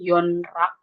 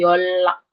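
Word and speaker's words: 연락: Nah, tapi ketika ketemu kata ini yonrak itu bukan dibacanya yonrak tapi yolak niennya di bawah ini jadi real jadi double real jadi double l yolock yolock itu menghubungi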